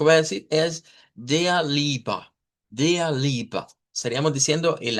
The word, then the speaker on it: Liebe: Entonces, una vez sabiendo eso, se nos hace fácil ver que el diptongo IE, en este caso del idioma Deutsch, lo vamos a pronunciar como una I.